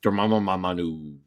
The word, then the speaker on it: Dormammu: I've never pronounced this name right. It's moo. All right, Dormammu. It's a Moo.